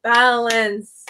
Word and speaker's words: balanced: Balance has 2. Balanced is not adding any syllable, any vowel, so I wouldn't think it would be 3, but I was like, I know balance is 2 syllables. Balanced. D is not a vowel.